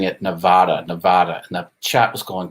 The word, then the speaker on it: Nevada: Nevada rhymes with Savannah.